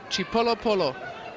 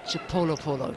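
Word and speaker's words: Chipolopolo: an answer actually to how you pronounce the Zambian team's nickname that's from uh Queen mu mu from the queen on Twitter the Zambian team is chipo Polo chipo Polo beautiful hope I pronounced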